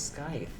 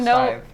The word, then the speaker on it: scythe: I always thought it was scythe. No. No. Scythe.